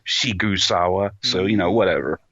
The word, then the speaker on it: Sigsawa: it's or I guess it's written as sigsawa but you know his it's pronounced shawa so you know whatever